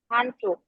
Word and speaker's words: Handtuch: Das Handtuch, হ্যান কেন? das Flasch, Handtuch. হান্ড, উচ্চারণটা স্পষ্ট, হান্ড হতে হবে।